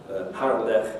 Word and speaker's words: Harlech: The velar fricative ch you only need to know about because it's in proper names and foreign words, so loch and Harlech, which is the name of a Welsh town.